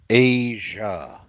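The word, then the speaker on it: A'ja: now how okay you know how you gonna pronounce her name Asia it's Asia okay thank you I want to put some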